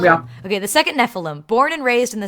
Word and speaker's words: Nephilim: So the second, why did I just forget how to pronounce it? Nephilim? That's how you say it? Nephilim, yeah. Okay. The second Nephilim, born and raised in the same quote family.